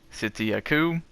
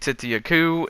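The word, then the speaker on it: Tzitzi-Ya-Ku: objectives one is to find a city yaku that's how I'm gonna pronounce it get over it and the next is to find a campsite they're both fairly easy to do the city Akoo is pretty close to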